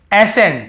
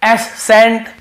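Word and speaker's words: ascent: जैसे देखिए एसेंट, हम क्या पढ़ रहे हैं, एसेंट। यहाँ पे एस सेंट या एस कैंट ऐसे नहीं पढ़ रहे हैं।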